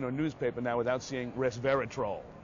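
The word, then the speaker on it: resveratrol: newspaper now without seeing R verat troll right that's how you know got to pronounce it right like a troll under the bridge res res verat troll this is troll oops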